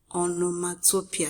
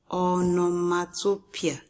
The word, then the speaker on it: onomatopoeia: This is pronounced onomatopoeia. Can you say it after me? onomatopoeia. Again, onomatopoeia.